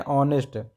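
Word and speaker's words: honest: रहा ठीक है ना अ से पढ़ते हैं ऑनेस्ट तो अ से उच्चारण हो रहा है यानी यह वाबल हो गया तो वल के पहले हम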